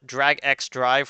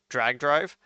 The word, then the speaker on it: Drag x Drive: Uh, Depending on how you pronounce the X, it's a Drag X Drive or Drag Drive, where where you are